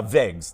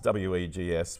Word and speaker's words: Wegs: Uh, Wegs, w e g s, Wegs, pronounced with a V.